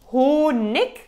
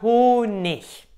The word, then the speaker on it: Honig: Der Honig oder der Honig. Die sind beide korrekt.